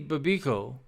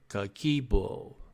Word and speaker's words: Kakeibo: So as we study Babiko, and I might even be pronouncing that wrong. Let me go down and see how you actually pronounce it. Just un momento, por favor. Kakeibo. Kakeibo. Yeah, I'm saying it right.